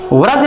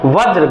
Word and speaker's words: वज्र: cross multiplication वज्र गुणन देखिए देखिए व्रज नहीं व्रज नहीं कृष्ण भगवान व्रज नहीं वज्र गुणन ज मेरा है वज्र गुणन पढ़ना है ठीक है ना तो